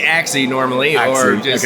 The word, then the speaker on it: AIXI: So, do you pronounce it? We say axi normally or just a iixi.